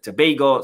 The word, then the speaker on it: Tobago: and uh trinad and Tobago someone taught me how to say it correctly because I used to say Tob uh but then someone corrected me said Tobago so Trin in Tobago